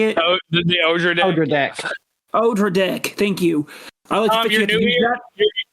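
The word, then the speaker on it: Odradek: I'm going to butcher the Redderdeck. How you say it? Oh, the Odra deck.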